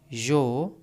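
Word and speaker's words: your: Tell योर parents parents about leaking tabs. यहां पर are silent होता है योर में।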